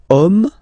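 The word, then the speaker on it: homme: we've got the word om man okay but then it start with Ash as in French Ash is not pronounced so the first sound that we hear is O Okay and then it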